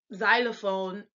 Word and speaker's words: Xylophon: this is with us, when a word begins with an X, it's pronounced like a Z, like xylophone or Xerox, we pronounce it. But in the beginning of the word in German, it still has that X sound. So where we would say xylophone, they would say Xylophone.